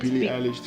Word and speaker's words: Billie Eilish: Billie Eilish.